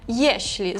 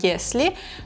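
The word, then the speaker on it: jeśli: Наступні мами єшлі. Зверніть увагу на то, як ми його вимовляємо, щоб не плутати з єслі, тому що вимова інша. є шлі маємо всередині оце м'яке шліце мот якщо ти хочеш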